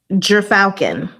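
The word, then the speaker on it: gyrfalcon: Hero Falcon? Gyro Falcon? No, I want you to say it for me. Oh, that's a pretty bird. Gerfalcon.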